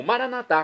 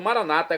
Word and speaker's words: maranata: E agora eu clamo maranatá, como dizemos aos católicos, ou maranata, como diz eh como dizem nossos irmãos separados, evangélicos ou protestantes.